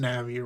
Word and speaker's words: Navi: I know that it's pronounced Navi, right?